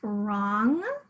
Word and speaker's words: wrong: The W is silent. So this happens at the beginning of words like wrong.